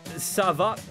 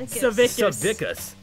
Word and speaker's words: Savickus: From Jonathan Savak. Why are all the names so hard to read today? He's got this person included how to pronounce it though. Savickus.